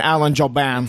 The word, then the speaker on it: Jouban: Listen, Alan Jouban. T is silent.